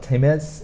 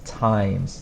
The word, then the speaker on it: times: not that bad but we have an e that we don't really pronounce it's not Tim is it's times this e changes the